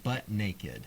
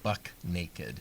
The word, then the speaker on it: buck naked: Well, which brings us to our next one, butt naked. Okay. The thing about being butt naked is that it's more than just your butt that's hanging out there, making you look foolish. Now, the actual term is buck with a CK, buck naked.